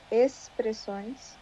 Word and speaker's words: expressões: geralmente expressões, nós falamos expressões. Ah, expressões. Aham. O X fica com som de S.